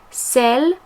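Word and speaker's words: celles: S to cell but bear in mind that that s is silent so if you're replacing a feminine plural noun you need to say cell to mean the ones or those when it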